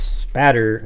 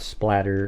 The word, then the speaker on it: spatter: It's spatter, not splatter, and it's spelled Even Splatter has two T's. Yeah, it's spatter, not splatter. Okay. S P A T T E R.